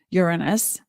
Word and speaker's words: Uranus: Uranus, the correct pronunciation.